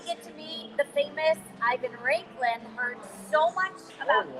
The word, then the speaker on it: Ivan Raiklin: And I finally get to meet the famous Ivan Raiklin. Heard so much about him. Oh, wow, you pronounced it right.